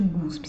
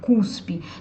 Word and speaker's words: cuspe: Então vamos lá ver as pronúncias dessas palavras, começando hoje pelo caso de guspe. Você já deve ter percebido que quando alguém fala guspe, é alguém tentando falar cuspe.